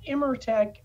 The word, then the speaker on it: Immertec: But today we have an incredible guest with us who is the CEO of Immertec, and it is Erik Maltais, and we thank you so much for being here today.